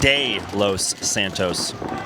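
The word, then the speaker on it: De Los Santos: uh letting me know alfred is pronounced day los santos so you got a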